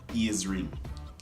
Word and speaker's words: earring: Earring, but we Jamaican pronounce it as ears ring. Ears ring. Your ears ring. We don't say earring, you know, we say ears ring.